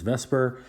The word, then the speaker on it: VSEPR: In this video, we're going to be going over and doing a little bit of a reminder uh VPR, which I pronounce as Vesper.